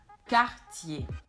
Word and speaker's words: Cartier: Another French luxury jewelry brand is this one, and that is Cartier. So it's not Cartier, but it's Cartier.